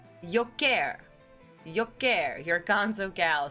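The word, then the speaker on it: Jokić: This year's finalists for NBA MVP were Giannis Antentao, Shai Gilgis Alexander, and Nicola Yokic. It's pronounced Yoker. Yoker.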